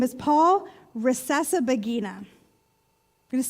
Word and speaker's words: Rusesabagina: I'm going to check my notes here because his name is Paul Rusesabagina. I'm going to say that again because I worked really hard to be able to say it properly. Paul Rusesabagina.